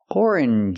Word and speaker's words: orange: this is not correct first we need to sound or or like Flor and more Orin orange juice orange juice we need